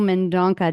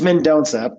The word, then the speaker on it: Mendonca: Windsor Ontario and really excited to welcome mandona did I say that correctly it's menona but it's not the worst that's not the